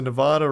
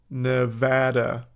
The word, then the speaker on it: Nevada: As a Nevada resident, it's pronounced Nevada, not Nevada.